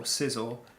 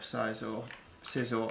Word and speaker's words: Scizor: Let me pull up Scizor. I keep pronouncing it like it's Scyther, and I always have done. And I know that's not what people say.